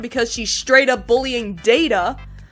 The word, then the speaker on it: Data: Except she's not very good in that episode because she's straight up bullying Data. My name. It is pronounced Data. You called me Data.